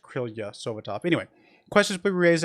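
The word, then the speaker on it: Krylia Sovetov: spell it here, but it does look like it's pronounced Krylia Sovitov.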